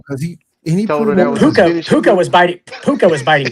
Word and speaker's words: Puka: How do you pronounce his first name? P U A Puka.